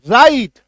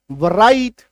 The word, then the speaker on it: writ: WRIT, है ना, WR एक साथ है, W काट दो अब पढ़ो RIT, राइट।